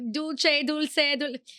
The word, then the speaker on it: dulce: Oh, is it dulce like Italian? Well, you know how, potato, however you want to say it. Dulce. That's how you say it. Because like dulce.